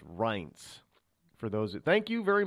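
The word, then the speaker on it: Reince: I got it I got how you it's RS it's not Rin it's R I get it yes I understood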